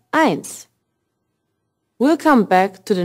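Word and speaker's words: eins: Street pay attention here one is pronounced ants we'll come back to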